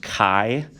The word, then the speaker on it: chi: that word is uh pronounced kai and kai is a greek letter and i usually make